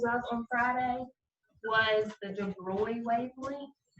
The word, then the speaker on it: de Broglie: on friday was the de bruy wavelength so i know that it doesn't look like that says de bruyne but that is how you pronounce it um anytime you're supposed